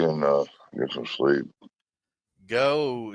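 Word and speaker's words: Geaux: uh get some sleep go is that spelled g e a x how they spell it down there LS you talk about them LSU Tiger supposed to say g e a x that's way they say it down there and oh Hy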